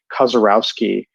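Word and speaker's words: Kaczorowski: I'm trying to remember how to say her last name. It's Kozarowski, and she worked at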